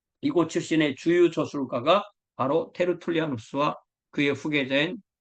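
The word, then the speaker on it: Tertullianus: 신의 주유 저술가가 바로 테르툴리아누스 그의 후계자인 키프리아누스 그러니까 테르툴리아누스 카르타고의 테리스 키프리아누스 카르타고의 키프리아누스 보 영어로는 우리가 터툴리안 이렇게 하고 뭐 키프리안 이렇게 말하는데 요즘은 원래의 발음대로 불러주는게 국제 표준입니다 그리고 히의 아스 스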